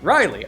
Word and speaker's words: Rileah: a cleric named uh how do you pronounce this riley rileya riley riley oh it's spelled r-i-l-e-a-h here on your sheet riley okay cool uh and